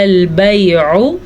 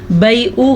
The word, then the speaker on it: البيع: انما البیع، عین کے تلفظ کا خاص خیال رکھیں، کیونکہ اگر عین کے مخرج کا ہم خیال نہیں رکھیں گے تو یہ حمزہ بن جائے گا. ٹھیک ہے، بیعو غلط ہوتا ہے، بیعو.